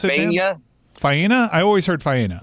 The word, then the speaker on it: Faena: Fania? Faena? I always heard Faena. Well, he's saying Dania, and it's Faena, and those are two very different places.